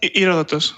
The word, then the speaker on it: Herodotus: Herodotus.